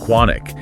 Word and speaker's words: Keanic: He suggested the name on the tie was actually Keanic, pronounced quanic, and that it was likely of European origin.